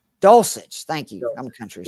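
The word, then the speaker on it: Dulcich: Dulich. Doulich.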